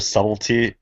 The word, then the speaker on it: subtlety: totally subtly or a subtlety i always throw the b in there i don't i say subtitle that's subtle the trick is that the b is subtle yeah the b and